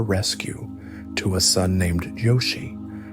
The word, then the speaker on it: Jochi: soon after her rescue to a son named Yoshi, pronounced Jochi.